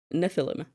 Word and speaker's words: Nephilim: I have to check the right way of pronouncing it. Um, yes, Nephilim.